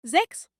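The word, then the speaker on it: sechs: comparación con el español seis se pronuncia zex siete se pronuncia zib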